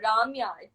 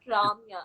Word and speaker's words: Ramya: So basically, North Indians pronounce my name as Ramya. It's not Ramya.